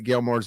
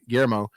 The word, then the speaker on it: Guillermo: much liked everything that Gilmore's done except, and I said his name wrong, Guillermo.